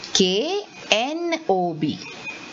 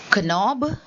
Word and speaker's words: knob: is called as a knob so see like knight it is knight is k-n-i-g-h-t and this is k-n-o-b so am i saying kanob no i'm saying knob so the k is silent so children here in